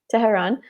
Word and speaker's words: Tehran: Tehran. Am I saying it right? Tehran.